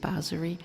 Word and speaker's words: bansuri: It's spelled bansuri or said basuri.